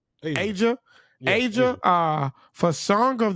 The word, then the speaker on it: Ajia: Song of the week is how you pronounce this, Ron? I want to make sure I say it right. Asia.